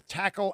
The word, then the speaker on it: Takl: Download the Tackle app. You spell it Takl.